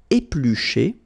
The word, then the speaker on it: éplucher: Éplucher, battre, faire mijoter, pocher, griller. Okay, so let's see them one more time. Éplucher. Okay, remember when you've got this CH, the sound is SH. Okay, éplucher.